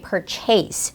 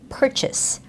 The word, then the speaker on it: purchase: a lot of my students say purchace purchace which is not the right sound for this word the correct sound is purchase purchase and that's because the stress goes on the first syllable so you do not say that a sound as if you're saying a chase something okay so it's purchase purchase you know the schwa sound and everything you do